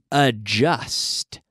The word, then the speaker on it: adjust: The verb to adjust. Eso es, adjust. No digamos adjust. Hay un D, pero no se pronuncia.